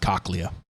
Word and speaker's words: cochlea: your cochlea and um it's pronounced cochlea i prefer coke okay